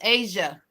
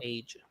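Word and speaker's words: A'ja: It's Asia. Asia. That's how she said it. She on her interview, she said that's how you say her name. Just remember the continent of Asia, and there you go. Asia.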